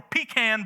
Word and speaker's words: pecan: We got the classic pumpkin pie or pecan pie. It's pecan is how you properly pronounce it here in Indiana.